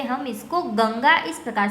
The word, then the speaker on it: गंगा: लेकिन इसके ऊपर ये जो हमने आधा अनुस्वार किया है यानी कि डॉट किया है, उसकी मदद से हम इसको गंगा कहेंगे।